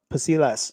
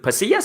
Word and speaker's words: Pasillas: So I think Alim fought Pasilas. I probably pronounced his name wrong. I just forgot his last name. Is it Pasillas, his last name? Yes.